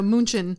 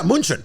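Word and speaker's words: München: I mean, that's how they say it though, Munchen. Yeah, Munchen.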